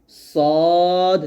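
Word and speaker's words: صاد: ভুল করা যাবে না সদ উচ্চারণ করার সময় ঠোট গোল যেন না হয়ে যায় এটা এটা সোয়াদ বলা যাবে না। দেখুন এখানে বানান লেখা সয়াদ, আলিফ জবর সদ তার আবার দাল। সদ বলতে হবে।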